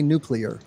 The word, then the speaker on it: nuclear: ignoramus I'm sorry but you have to say nuclear um that is the correct pronunciation in case you were wondering John but